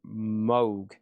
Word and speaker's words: Moog: Over here we have Robert Moog himself explicitly stated his name rhymes with Vogue Rogue. Yeah, the Moog.